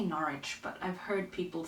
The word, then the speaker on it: Norwich: if you read this book How would you pronounce the name of this place why Mom no Windom how about I say Norwich but I've heard people say narch anyway that's it um there are so many